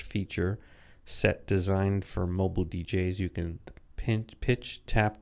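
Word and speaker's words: djay: now there's a new dj app in the app store for the ipad now i've been playing around using dj which is spelled d j a y on the ipad and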